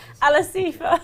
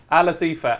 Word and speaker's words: Alasifa: Alasifa, as Jack here. Ali's car, Alasifa. One of our producers here has given me a terrific recommendation. He said it's like Alice and Aoife. So Ala Sifa.